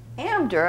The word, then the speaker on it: Amdur: what I'm talking about amder I should have said is the way Jewish people Yiddish speakers pronounce the town of indura this is indura just